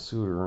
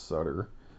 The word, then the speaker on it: Sutter: He kept saying my name was Suter and I told him no, it's Sutter.